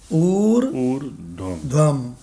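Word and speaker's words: ऊर्ध्वम्: लेकिन इसके ऊपर रा लग गया, तो अगर इसके ऊपर रा लगा है तो पहले रा पढ़ोगे। क्या पढ़ोगे? ऊर्ध्वम।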